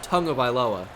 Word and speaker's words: Tagovailoa: I already get corrected enough for calling Tua Tagovailoa and not Tagovailoa, which is not his name, by the way. It's pronounced Tagovailoa.